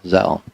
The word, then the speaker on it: Zelle: Yeah, Zelle. Oh, okay. Apple Pay. Well, then they ought to spell it Zell. What's up with the E? I guess they're from France or something.